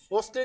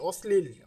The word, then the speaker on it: অশ্লীল: দন্তস হয়ে যাবে দেখো এখানে লক্ষ্য করো অশ্লীল যে শব্দটি আছে অশ্লীল অশ্লীল কিন্তু এখানে আমরা লক্ষ্য করছি যে এখানে তালবস আছে কিন্তু এটা কিন্তু আসলে কিসের মধ্যে উচ্চিত হচ্ছে এর সাথে কি আছে ল সংযুক্ত আছে যার কারণে এখানে দন্তস হয়ে যাবে আবার আস্থা আস্থা দেখো